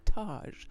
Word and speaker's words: Taj: yesterday at the house oh Taj like Taj Mahal right you got it and